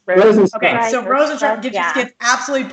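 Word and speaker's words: Rozenstruik: Minty's going to get knocked out in the first round, and sure enough, is it Rosenstruck? Is that how you say it, Johnny? Yep. Yes. Rosenstruck.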